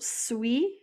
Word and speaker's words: suit: Next is il, elle, on suit. So kind of pronounced this, it's still pronounced the same, but just spelled a little bit different.